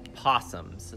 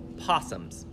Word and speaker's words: opossum: quite a bit now sometimes we call them opossums that's a easier word to say Oh opossum is an extra syllable and sometimes we're lazy with speech but there are animals called opossums they don't live in